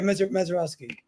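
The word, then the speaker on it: Misiorowski: Yeah, we were gonna face Mizarowski. Is that how you say it? Yeah, Mezarowski.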